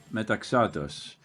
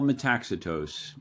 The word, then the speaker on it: Metaxatos: Full name is Metaxos. But for most people, it's Metacitos.